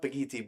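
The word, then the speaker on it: Bakithi: bagiti it's pronounced with it's pronounced bagiti but looks like baki see if he has anything on his website let's see schedule charity store booking packages contact Graceand experience.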